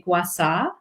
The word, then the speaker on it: Gua Sha: Gua Sha? Well, Gua Sha, but in Chinese medicine and Chinese culture, they would say Gua Sha.